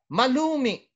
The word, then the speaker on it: malumi: You notice the grave accent on the last, letter there, because it ends with a vowel. But the glottal stop, okay? Malumi, okay? Meaning it has that glottal, but it has still